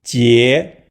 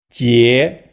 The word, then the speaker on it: 結: The pronunciation of the character 结 can be associated with the first syllable Jack from Captain Jack Sparrow, which we previously linked to the word 解 meaning older sister.